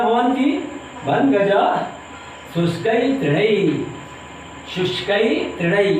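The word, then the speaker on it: शुष्कैः तृणैः: शुष्कई तृणई ये इसका उच्चारण है।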